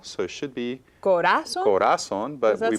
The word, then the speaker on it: corazón: En la O.